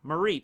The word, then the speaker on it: Mareep: It's a sheep, Mareep, and then Flaffy.